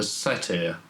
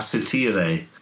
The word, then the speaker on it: satyr: It's a satyr. How do you pronounce it? Satyr? I fawn. like, yes, that's the pronunciation that my old Latin master used to prefer. A satyre.